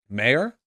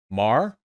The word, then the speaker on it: Maher: two Bill Maher um mayor is it mayor why would you not type it phonetically Maher Mar it's Mar okay thank you I don't know why a bunch of people started spamming mayher yeah whatever anyway Bill